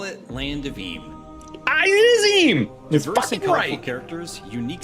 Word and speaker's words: Eem: Uh, so anyway, I've been looking through the land and I want to know if it's EM or M. What? How would you pronounce it? It's EM. How do you pronounce it?